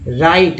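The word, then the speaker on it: write: राइट, राइट तो समझते हैं राइट में लिखना होता है, डब्लू यहाँ पर साइलेंट है।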